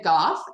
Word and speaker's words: Gough: I actually write under the name Goff because as some science fiction uh fantasy uh